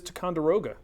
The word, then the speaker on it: Ticonderoga: That is Ticonderoga.